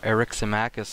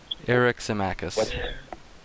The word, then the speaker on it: Eryximachus: What did you guys think of the articulation by Pausanias and Eryximachus about the two different forms of love?